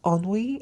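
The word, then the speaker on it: ennui: the full meaning so it's spelled e n n UI and yes it's called onwe and a feeling of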